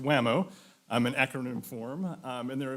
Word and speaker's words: WAMO: For at least the past 7 years, we have partnered with the Water Management Association of Ohio, pronounced WAMO, an acronym form, and their affiliated Terraqua student